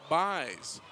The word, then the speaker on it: Buys: And we will quickly correct our pronunciation of Shane's last name. It's Buys.